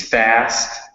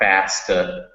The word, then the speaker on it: fast: It's fast, not fasta. And out, not outa.